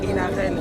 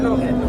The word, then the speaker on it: Lorraine: On m'avait appelé Inarène, je suis Lorraine.